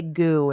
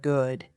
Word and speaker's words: good: Many learners drop the final consonant of words. They say goo instead of good, thin instead of fine, imperin instead of important.